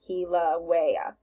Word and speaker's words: Kilauea: this one this word this is how you pronounce it Kilauea so and it tells you what page it's